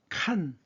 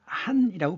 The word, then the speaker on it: 간: 거서관인데 간이라고 하는 것은 칸 또는 한이라고 발음하는 거예요.